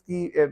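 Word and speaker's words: coup: और ये कू है तो कू में ये पी साइलेंट है।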